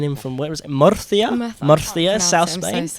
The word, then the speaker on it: Murcia: Murcia?